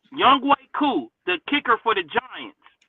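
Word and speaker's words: Younghoe Koo: Did you see when young young ho I mean, no, his name is not is the way it's spelled is spelled like Young Hoku, but it's Young Way Coup, right? Young Way Coup, the kicker for the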